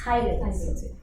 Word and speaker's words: phthalates: That's a really weird word, and you think I'm pronouncing it weird, but it's phthalates. Phthalates with a T, it's what it's pronounced with.